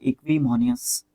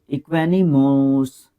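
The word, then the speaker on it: equanimous: है पर्सन की, वो इक्विमोनियस, इक्विमोनियस जो है एक तरीके से इक्वेनिमोनस, इक्वेनिमोस, इक्वेनिमोस, यस, ये सही प्रोनाउंसिएशन है, इक्वेनिमस, ये सही आ रहा है एक तरीके से निकल के।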